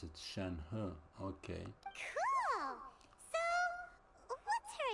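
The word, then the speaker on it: Shenhe: acquainted with shenu to some degree shenu you pronounce it shenu okay cool so what's her adeptus name any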